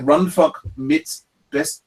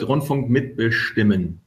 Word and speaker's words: Rundfunk mitbestimmen: You pronounce it Rundfunk mitbestimmen.